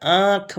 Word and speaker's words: आँख: तो जब हम बोल रहे हैं ना, तो उसमें अजीब आ रहा है, आँख नहीं बोल रहे हैं, आँख नहीं बोल रहे हैं, आँख बोल रहे हैं, ठीक है। जो इसका उच्चारण है नास्तिक, यानी नाक से थोड़ा हो रहा है, उसमें नाक से मिलता जुलता शब्द बोला जा रहा है।